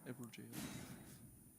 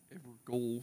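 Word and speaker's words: Evergaol: That's how you actually pronounce this, is Everjail. Even though it looks like Evergoal from first glance.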